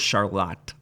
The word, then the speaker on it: Charlotte: in North Carolina and we have Charlotte North Carolina but our version in Michigan is Charlotte you got to add the little Accent on then um but we go